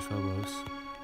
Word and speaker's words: Phobos: actually i'm just gonna uh visit daimos and phobos that's how you pronounce it and uh mars but um then